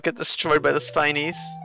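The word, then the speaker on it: Spinies: used to call them spinneys but i feel like spineys is the correct pronunciation because that makes sense because they have spines they don't spin actually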